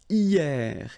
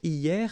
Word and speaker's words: hier: And then the first one is hier. Hier means yesterday, okay? Hier. So remember, this H here is not pronounced, okay? So hier.